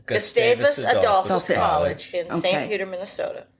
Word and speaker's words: Gustavus: College together in Minnesota um more or less gustus Gustavus ad in St Peter Minnesota learn how to pronounce it because it is the Harvard of